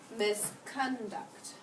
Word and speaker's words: misconduct: Misconduct. No. No. What do you think I need to change? The accent Where am I going to put the accent? on the first syllable.